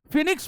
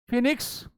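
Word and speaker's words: Phoenix: 1904 में इन्होंने फिनिक्स form की स्थापना की, जिसको बहुत सारे लोग फोनिक्स बोल देते हैं। इट is like this, फिनिक्स form, फिनिक्स, फोनिक्स नहीं। बहुत से लोग क्या पढ़ते हैं, फोनिक्स, ओ साइलेंट होता है, दिस इज फिनिक्स।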